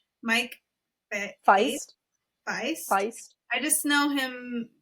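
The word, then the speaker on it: Faist: Mike Feist.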